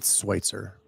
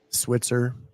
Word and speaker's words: Schweitzer: It's Schweitzer. Schweitzer. What do people typically say? Switzer. Switzer. Yeah, Schweitzer.